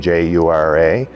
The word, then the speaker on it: Jura: They sailed on the SS Southland to Britain, and they were deployed to the Jura, I believe that's the correct pronunciation, Jura, mountains near Switzerland, but in France.